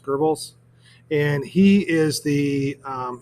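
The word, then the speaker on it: Goebbels: I think it's pronounced Gerbles.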